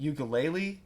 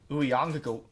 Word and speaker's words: Uiagalelei: I'm sorry, I don't know how to pronounce his last name, but DJ Ugalele. DJ Uiagalelei. Uiagalelei.